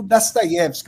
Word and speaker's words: Dostoiévski: O, quando ele é átono, ele é pronunciado com um som de A. E a gente tem a semivogal Ye ali do sobrenome Dostoiévski como a sílaba tônica. Daí o Dostoiévski, o Fyodor Dostoiévski. Daí eu falar dessa maneira.